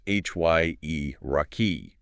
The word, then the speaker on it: hierarchy: social analysis section is hierarchy, pronounced hyrai. We need to ensure that initial hy sound is pronounced clearly like the start of high followed by that distinct three-part ending.